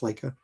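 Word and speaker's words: Laika: So that does all the Leica, I think it's Leica, pronounced Leica, stop motion stuff, right?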